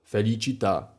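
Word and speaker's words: felicità: A osobno jako trzeci i ostatni podpunkt właśnie te słowa, które mają akcent na ostatnią sylabę. Tak to wygląda jak na przykład te dwa słowa, które już padły. Ativita, felicita, aktywność, radość.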